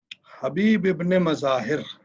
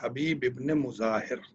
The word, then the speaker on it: حبیب ابن مظاہر: حبیب ابن مظاہر ہم لوگ کہتے ہیں، لیکن اس کا صحیح تلفظ ہے حبیب ابن مظاہر، مظاہر کا بیٹا حبیب.